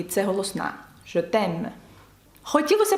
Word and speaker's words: je t'aime: «Je t'aime», «я тебе кохаю». Ви бачите, це не носовий, бо далі йде «е», і це голосна. «Je t'aime».